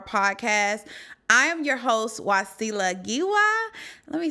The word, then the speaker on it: Wasila Giwa: I am your host wasila gwa let me say that let me run it big for those that don't know how to say my name wasila gwa with the African accent welcome welcome welcome avar